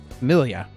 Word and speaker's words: famiglia: Familia is how it's pronounced.